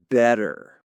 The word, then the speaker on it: better: Better. M. Better. That T sound, you know? Yeah. It's that little flap T for us.